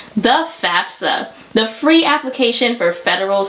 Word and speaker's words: FAFSA: It's FAFSA, not FAFSA, but we gonna go with it.